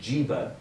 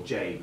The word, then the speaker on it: jiba: So it wasn't obvious that you pronounce it jiba. So if you just see a J and a B, you'd say jib or jabe is how they pronounce it. Now, jabe was translated into Latin by Robert of Chester. And jabe in Arabic means pocket. Now, it's not meant to be pronounced jabe, it was jiba, but it's because of you've thrown the vowels out, it became pronounced as jabe.